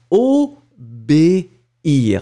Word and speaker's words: obéir: But if it's a with the accent, it means that you won't combine the two. So you will pronounce it clearly o b first, and after that you finish with the ear, o b ear, and it's really important, d'accord?